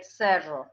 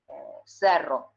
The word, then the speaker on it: cerro: With friction, I say cerro, like the way we pronounce that phoneme in the north of Argentina. Without friction, cerro.